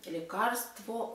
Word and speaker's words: лекарство: Лекарство, о лекарстве.